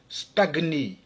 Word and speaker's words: stagner: Dans tous ces mots, le G et le N se prononcent séparément, alors qu'en général, le GN se prononce comme dans agneau, comme dans igname, ou encore ignorer. On prononce donc pugnace, stagner, gnome, agnostique, magna.